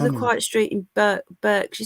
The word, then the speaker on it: Berkshire: quiet street in burke berkshire is it bark shell burke shabach it's berkshire berkshire we're not warned and we're saying it wrong but berkshire yeah that's proper berkshire yeah berkshire um hang